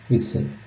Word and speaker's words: WGSL: sharing language which we'll call wgsl pronounced Excel honestly we could spend